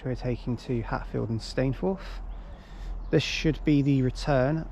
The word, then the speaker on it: Stainforth: Stainforth, I think that's how you say it. That's how the onboard announcement said it, so I'll go with that.